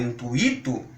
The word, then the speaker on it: intuito: Então, se as pessoas saírem por aí e quiserem pronunciar intuito, circuito, gratuito ou fortuito, sem problema nenhum. Nós estamos sugerindo que sejam pronunciadas de acordo com muito, certo?